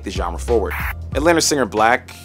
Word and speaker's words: 6LACK: genre forward Atlanta singer black and it's not pronounced sixl had early Beginnings as